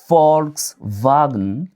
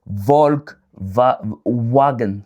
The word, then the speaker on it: Volkswagen: Autant pour moi, V en allemand est prononcé comme F et W est prononcé comme V. Un exemple très très clair, c'est des Volkswagen. Pourquoi est-ce qu'on dit pas des Volk wagon par exemple ?